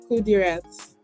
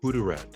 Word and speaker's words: Qudirat: My name is Kirat. Kudat. Kudat. Yes, good. Yeah, you got it.